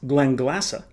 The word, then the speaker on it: Glenglassaugh: Spacey whiskey but the Glen glassa folks and yes my American and non-scottish accented friends it's pronounced Glen glassa they refer to themselves